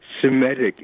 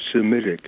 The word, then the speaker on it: Semitic: third I'm not sure but somatic instead of Semitic yes anti-semitic and pungent where even the pundits say he Punda nation vs.